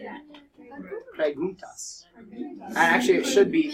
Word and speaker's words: preguntas: Preguntas.